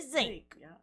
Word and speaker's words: zinc: like who says sink we don't say sink we say zinc you know people got